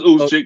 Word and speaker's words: Juszczyk: It's Juszczyk. The J is silent.